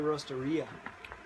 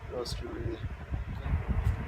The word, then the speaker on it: Roastery: I thought it was Cafea Roasteria. Nope. Okay. Roastery. Kind of rhymes with rotisserie, but it's not a rotisserie.